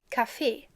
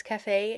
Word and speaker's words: Café: Café, with the pronunciation on the last E, because it's French, and café, with the pronunciation on the A.